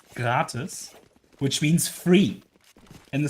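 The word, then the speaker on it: gratis: way is also a German word which is pronounced gratus which means free in the sense of like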